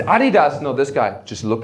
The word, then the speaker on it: Adidas: I'm a German, it's Adidas.